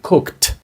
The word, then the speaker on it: cooked: Але остання літера вимовляється не як д, як d, а як t. Отже, cooked.